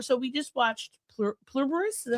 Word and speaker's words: Pluribus: This is when we were So we just watched Plur Plurus. Is that how you say it? Pluribbus.